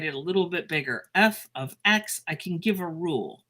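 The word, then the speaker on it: f(x): And I pronounce it f of x. So this is called f of x.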